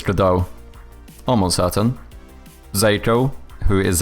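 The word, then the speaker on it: Godot: I always read it as go dot. Oh yeah, I'm pretty sure it's GDAU.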